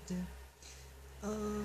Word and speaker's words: Tao: You pronounce it Dao. Although I call it Tao. I know you're supposed to pronounce it Dao, even though it's Taoist.